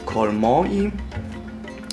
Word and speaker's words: colmanti: das ist ein offizieller kollmorgen französisch ausgesprochen der name und nicht deutschland immer darauf achten nachdem